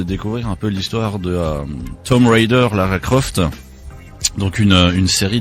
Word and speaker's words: Tomb Raider: Ou Tomb Raider, comme normalement il faudrait le prononcer, puisque le B est muet en anglais.